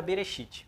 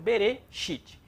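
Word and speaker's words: בראשית: Temos aqui novamente a palavra Bereshit. Bereshit. Nós aprendemos que ela só tem duas sílabas.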